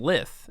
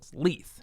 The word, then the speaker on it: Leith: Yeah, because you kept saying Lith, and we know it's Leith for sure, Andrew.